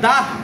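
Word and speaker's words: ده: সংখ্যার ক্ষেত্রে, এগুলো সংখ্যা না, এটুকু কাজে মনে রাখা হচ্ছে সংখ্যার ক্ষেত্রে যত হে আসবে সবগুলো হয় মালফুজি, মানে এগুলো উচ্চারিত হবে।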